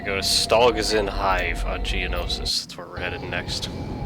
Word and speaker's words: Geonosis: is in hive on geonosis i'm glad i learned how to pronounce it because i remember in the complete saga playthrough i kept calling it geonesis oh well whatever it's